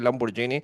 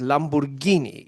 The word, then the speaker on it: Lamborghini: escucho un colombiano decir Lamborghini. Lamborghini es italiano y la G y la H es Gui, eso es Lamborghini.